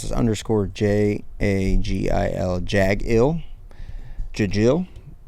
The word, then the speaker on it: jagil: How would you pronounce this underscore J A G I L Jagil Jil Jaggle Jaggle.